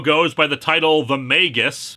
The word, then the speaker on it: Magus: the title The Magus I am using this pronunciation under protest after the last time you all said it goes like that I still think Magis sounds better after all we don't pronounce magic magick now do we this is